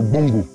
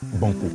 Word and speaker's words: Bongo: Donc ici, le véritable nom de cette rivière-là, c'est le Bongo. Le Bongo. Ouais, le Bongo qui signifie source d'eau rafraîchissante en langue hébraïe. Et le colon n'a pas pu prononcer le Bongo, a dit Banco.